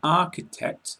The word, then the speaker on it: architect: In architect, CHI is K.